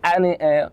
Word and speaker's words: Ateneo: Ateneo. Okay. Arneo. We know it as Arneo, Arneo. but it's Ateneo.